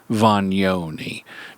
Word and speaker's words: Vagnoni: and marketing Guru Anthony voni now he doesn't spell it Von but that's the Italian correct Italian pronunciation and Anthony has been